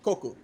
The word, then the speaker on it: Coco: so Kokua shortened to Coco because Coco is fun to say and sounds a little bit like cuckoo like a cuckoo clock and I like that